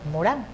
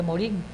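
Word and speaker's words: Morin: este libro es de Edgar Morán, se escribe Morín.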